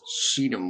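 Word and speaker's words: Shittim: okay okay and then go remember that's pronounced Sedum wood but anyway let's just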